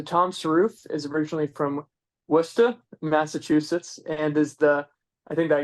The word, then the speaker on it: Worcester: And you even said my hometown correctly, as we locals say it, Worcester.